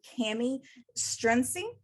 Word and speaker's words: Kami Strunsee: episode of makers chat i'm here today with cami strinzi this is how you pronounce it how you pronounce it awesome um